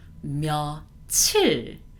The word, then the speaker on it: 며칠: This time, this 몇 일, this part, it changes to 며칠. Not only the pronunciation, it does change the spelling itself as well.